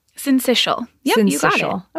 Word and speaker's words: syncytial: And Erin, I hope you're going to tell me how to pronounce syncytial. Syncytial.